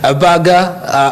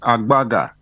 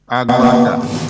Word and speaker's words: Agbaga: of uh your surname the pronunciation of my second name is agbaga agbaga agbaga many thanks